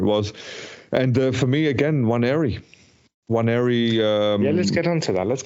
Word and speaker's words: Nwaneri: Nwaneri. So it's Nwaneri. So NWA. Is the end of silence? Do you still have to pronounce the end? Yeah, you still have to. Everyone is pronouncing the end, but I thought the same thing.